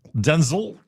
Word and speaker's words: Denzel: You're supposed to emphasize the den and then say Denzel. Denzel like pretzel. So if you want to know how to capture that uh pronunciation, say the den and then the zull part like you're going to throw up.